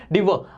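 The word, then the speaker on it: devour: इसका प्रोनाउंसिएशन है डीव।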